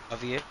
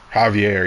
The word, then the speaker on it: Javier: Like it starts with a J, but you don't pronounce it with a J. You know what I mean? Like is it Javier? Javier.